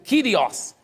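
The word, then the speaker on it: κύριος: essa palavra no grego a palavra escrito curiós pronuncia aqui no grego kyrius só que que significa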